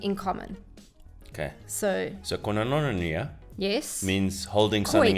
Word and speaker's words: koinonia: So, So koinonia yes. means holding Koi. something in common. So it's spelled K-O-I, Yeah. like koi Yeah. fish. Yeah. Then N-O for no. Yeah. Then N-I-A, Okay. nia. Okay.